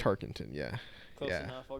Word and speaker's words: Tarkenton: Fran Tinkerton?